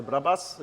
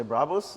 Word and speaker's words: Brabus: came from yeah and today in in japan they say brabas in in france yeah yeah and in german you say bravos and the americans say it in a different way and it's a name